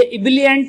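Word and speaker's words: ebullient: इब्लेंट, अगर हम हिंदी भाषी जो कि भारतीय हैं, हम अगर इसे पढ़ेंगे तो हम इसे क्या पढ़ेंगे, इब्लेंट ही पढ़ेंगे, मतलब उ की मात्रा लगाएंगे।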